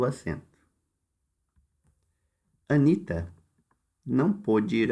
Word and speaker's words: pôde: O primeiro é pôde, o O é fechado, e o segundo é pode.